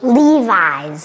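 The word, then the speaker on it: Levi's: spe specific Mo Cody can you help us pronounce this Levis once again Lis once again Levis wow It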